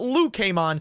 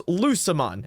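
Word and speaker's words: Lucemon: It's not Lu Kmon, it is Lucimon, as in Lucifer.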